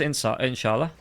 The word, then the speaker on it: inshallah: You go cross inshallah, as the British people say. How do you actually pronounce it? It's just inshallah.